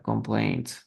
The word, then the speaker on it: complained: Miren, aquí sí añadimos una sílaba extra, objected. Pero aquí no, complained, complained, two syllables.